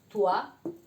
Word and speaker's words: toi: Después la O con la I. Se pronuncia como UA. Con, por ejemplo, moi, que quiere decir yo. Moi, toi, tú.